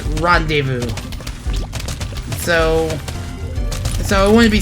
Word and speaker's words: rendezvous: just didn't know but wait but it's not pronounced blah desmos it's rendezvous so so it wouldn't be surprised if the